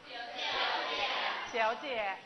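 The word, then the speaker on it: 小姐: เจ เฉียว เจ อ่ะ ถึง แม้ ว่า พยางค์ แรก เป็น เสียง 3 บาง คน จะ ไป ติด ผ่าน พยางค์ แรก เสียง 3 ก็ เลย ทำ ให้ คำ นี้ ออก เสียง ไม่ ชัด เวลา เสียง 3 หนังสือ บอก แล้ว ว่า ถ้า อยู่ ใน คำ พูด ชีวิต ประจำ วัน ทั่ว ไป แล้ว มัน ออก ไม่ เต็ม เสียง 3 ออก แค่ กึ่ง เสียง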